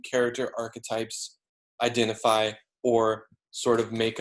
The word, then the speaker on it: archetype: First of all, it is pronounced archetype, not archetype or archetype.